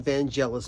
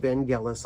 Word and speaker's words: Vangelis: made a video and I called him van jealous but his name is pronounced Vangelis I apologize uh but